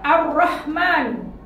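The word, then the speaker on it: الرحمن: Cara bacanya adalah melebur huruf al sehingga langsung masuk ke huruf berikutnya.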